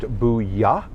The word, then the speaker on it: Bulla: It's called Booyah. It's Bulla. It is pronounced Booyah. It's Spanish. It's Spanish tapas, but they do the best paella I have had in Charlotte, just hands down.